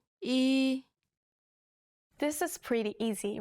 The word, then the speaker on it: 이: 이, This is pretty easy, right? Practice writing this character as you say the pronunciation out loud.